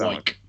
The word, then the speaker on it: Wyke: When you say it's not Wick, it's Wick, Do you mean Wyke? Wyke. Is it Wyke? It's Wyke. It's Charlie. You did say Wick. It is Charlie. It's Wyke.